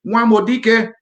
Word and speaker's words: Nwabudike: If you want to pronounce it as a Nigerian, it will be Nwabudike.